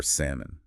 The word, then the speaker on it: salmon: We don't pronounce the B at all. Or salmon.